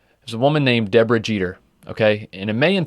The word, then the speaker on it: Jeter: Michael you're saying it wrong it's it's Jetta that was the pronunciation of one of the videos that we watched for this English people apparently had never watched baseball over here yeah seriously Derek Jetta I don't know Jeter what